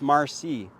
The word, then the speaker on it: Maarssii: So to honor the Métis, myself included, it's Marcy. And you can see it's very close to Merci, but it's spelled Maarssii.